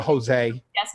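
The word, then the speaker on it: José: Thank You Maria Maria Jose Jose rhymes with all day hey Jose all day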